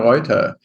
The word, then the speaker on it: Reuther: And today we have another great guest, and I'm going to give you the German pronunciation because that's where I'm coming from. So we have Krista Reuther with us.